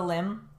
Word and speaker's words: limb: Amputation is the surgery that you go through to lose the limb. Remember this one. Prosthetic. Prosthetic. Prosthetic. A prosthetic leg. I have a prosthetic leg. And then limb, that silent B here, limb loss or limb